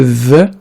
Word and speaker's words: the: Alors ici attention, le the quand il est précédé, quand il est suivi, d'une voyelle A, E, I, O, U, en anglais en tout cas, on le prononce the.